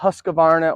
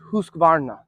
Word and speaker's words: Husqvarna: said ass um not Husqvarna or Husqvarna is Husqvarna if you want to put a little roll in the r that's how you pronounce it my perfect throwing act